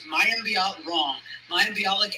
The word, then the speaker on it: Mayim Bialik: I always say her name right. It's Mayim Bialik and Ken Jennings.